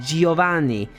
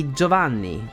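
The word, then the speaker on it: Giovanni: of the team rocket in English is Giovani while it's simply joavan the I there simply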